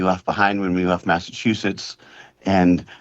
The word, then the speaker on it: Massachusetts: Well, he's mispronouncing mass Massachusetts where the last word last part of Massachusetts sounds like dookie. Okay. Okay. So, that's how he's pronouncing mass.